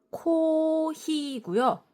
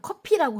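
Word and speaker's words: コーヒー: 그리고 우리는 영어에 F랑 P를 둘 다 피읍으로 발음을 하는데 일본어은 그걸 구별을 해서 후행을 이용하거든요. 그래서 커피는 일본어로 코히고요. 코 아니고 코히입니다. 코. 그리고 복사는 코피예요. 그렇습니다. 코피입니다. 그래서 우리 말로 그냥 커피라고 하면 복사처럼 들리겠죠?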